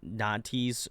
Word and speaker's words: Natty: This is Natty's solo. Is that, did I pronunciate that Yep.